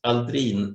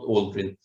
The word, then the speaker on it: Aldrin: He is a Swedish descendant, you know, and it should properly be pronounced Aldrin, not Aldrin.